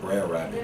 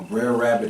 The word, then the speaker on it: Brer Rabbit: How would they pronounce it? Brer Rabbit.